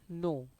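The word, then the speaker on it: know: example उदाहरण के लिए के एन से नो के एन ओ W where here pronunciation is नो के एन ओ डब्ल्यू वेयर के इज साइलेंट डब्ल्यू आर से राइट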